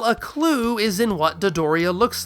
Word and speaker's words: Dodoria: In Japan, it's known as a dorian, dorian. Toriyama takes that, chops off the mmm, and doubles the dough. And there you go, Dodoria. Dodoria.